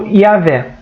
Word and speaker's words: Yahvé: A Moisés apresenta-se nominalmente, o seu nome misterioso, que é pronunciado como Yahvé, significa eu sou aquele que sou, em Êxodo 3:14.